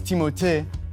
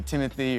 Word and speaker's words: Timothée: Well, honestly, it's Timothée, but I would not oblige you to say it like that. It could be Timothy or Timmy or Doug.